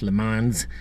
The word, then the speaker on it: Le Mans: You know, here in America we mispronounce everything French. Le Mans is Le Mans.